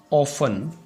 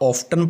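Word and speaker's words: often: ये ऑफन होता है, इसको आप ऑफ्टन पढ़ते हो जो कि गलत इसकी प्रोनाउंसिएशन है। तो इसको आपने पढ़ना है ऑफन।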